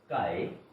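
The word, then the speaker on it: χ: Mole fraction, by this definition, this is defined as by this x pronounced as chi. So mole fraction, this chi of any component I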